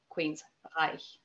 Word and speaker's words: Queensrÿche: umlaut on the Y, that C-H-E sound, for Germans anyway, it's Reich. So Queensrÿche.